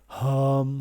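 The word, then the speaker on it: हं: So not, you pronounce it Ham. All right. Hum, hum, hum, hum, hum, hum, hum.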